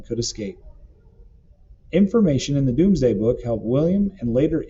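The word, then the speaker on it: Domesday: the result was the doomsday book pronounced doomsday which listed every castle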